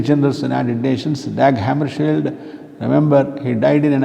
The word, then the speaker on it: Dag Hammarskjöld: He is called as Dag Hammarskjöld. That is the literal pronunciation.